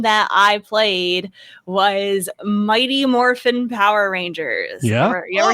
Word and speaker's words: Morphin: Because it's morphin. There's no G. Yeah. Morphin.